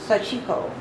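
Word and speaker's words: Sashiko: Sachiko. Did I pronounce that correctly? Uh-huh. Very good. Sachiko.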